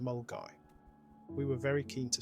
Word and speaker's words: Milngavie: Highland Way hike began from milavi pronounced mulgi we were very keen